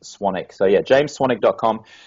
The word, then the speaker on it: Swanwick: n w c k so it's spelled swanwick but it's pronounced swanic so yeah James swan.